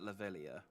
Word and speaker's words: Leveilleur: I'm sure that people have pronounced that Leveilleur before.